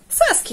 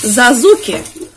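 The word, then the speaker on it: Sasuke: У них пишется S, значит, читают как Z.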